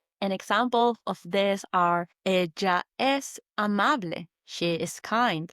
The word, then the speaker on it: ella: Or we would say ella es. Ella means she and es means is. So she is. Ella is spelt E-L-L-A. Just like the name Ella in English.